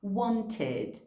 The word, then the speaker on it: wanted: Então, por exemplo, want, want, já termina com T. Então, no passado, a gente vai falar wanted, wanted.